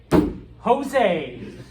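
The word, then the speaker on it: José: it up uh so whenever you see a Spanish J pronounce it like an H okay uh and so yeah Steve goes all right Jose with an H uh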